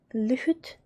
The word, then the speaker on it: lyhyt: That can be a little tricky to pronounce because of the H again, because we pronounce all of them H's and sometimes they are in the middle of the word.